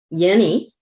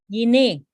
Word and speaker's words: Yine: Since we're talking about Yeni, did I say it right? Yine. Yeni. Yine.